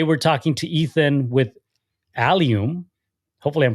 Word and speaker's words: Allium: right so that's why a lot of people pronounce this Alum and not alium uh there also another metal